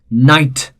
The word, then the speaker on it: knight: initial k is silent knight again initial k is silent knee again initial k